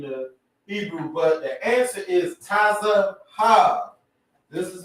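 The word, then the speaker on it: צהוב: got you so the word for yellow is tazah this is how you say tazah I mean this is how you say yellow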